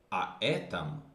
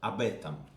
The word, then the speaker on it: об этом: So to sound well, it is better to say not aetam, but abetam. It is more fluent, okay, in pronunciation.